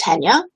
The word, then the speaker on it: Tania: and Stephen last night Tina even though she asked me to say my name still wanted to say it the way that she thought it should be said but my name is Tania but I get Tracy